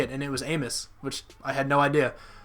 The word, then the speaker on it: Amos: Another thing, I heard Adrian Amos say his name, and it's not Amos. Apparently it's Amos. Just another random thing. I don't know if you guys knew that, but I always thought it was Amos.